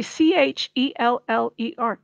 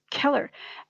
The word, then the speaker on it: Cheller: use k so the c h e l l e r keller like that's not pronounced cheller or sheller it's keller and that wasn't really